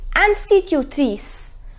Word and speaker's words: institutrice: So, instituteur et institutrice. The pronunciation is institutrice.